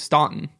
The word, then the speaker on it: Staunton: like use that and the northerners always pronounce it the correct way which was staunton and so then they'd